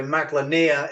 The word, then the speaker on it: Maglania: is it mag Lan name how do you pronounce it so mag lania is the name of the world and so